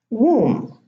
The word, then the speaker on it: womb: So in these words, the B is not pronounced. I'm going to read them again. Thumb, bomb, climb, comb, tomb, lamb, limb, womb, debt, plumber, plumbing.